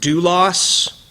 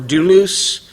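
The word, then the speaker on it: δοῦλος: The word is pronounced doulos or doulos.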